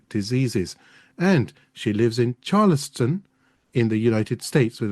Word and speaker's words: Charleston: Bethany, I paused because I was just saying if I said Charleston, this is a show and this is going to happen. I do apologize, but did I say it right, Charleston?